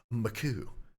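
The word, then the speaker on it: Makuch: from our boy any makkac or makuu I think I'm I think I saw somewhere where it's supposed to be pronounced makuu makuu a very GameSpot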